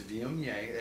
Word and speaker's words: Viognier: A lot of people have a hard time pronouncing Viognier. It's Viognier, and not a lot of production on this wine.